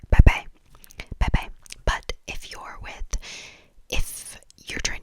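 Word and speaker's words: 拜拜: You can either say one bye-bye, which is B-A-I-B-A-I, bye-bye, which literally means bye-bye, bye-bye.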